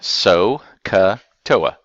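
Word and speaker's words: SOHCAHTOA: that's the sine cosine tangent and this is pronounced so cut OA and here's what it stands for I'll put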